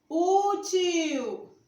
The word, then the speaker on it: útil: Útil. Útil. Veja que eu pronunciei com mais força.